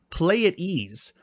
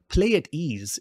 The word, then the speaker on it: Pleiades: And here they say it's pronounced Pleiades. Pleiades is how you pronounce it.